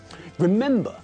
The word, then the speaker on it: remember: not visit this thing remember has got three syllables but again the stress is not at the end of the word but in the middle remember because of this